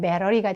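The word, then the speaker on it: battery: 본토 발음으로 하면 배러리가 되겠죠.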